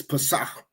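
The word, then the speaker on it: פסח: That's an H. It's Pesach. Pesach. That's what he's saying, Pesach? Pesach. With no K. What is it? Pesach. It's not the K.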